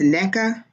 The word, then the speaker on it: Neca: She put neck, NECK, so it's NECA. Yeah, she said my first name is pronounced like neck-a, NECA.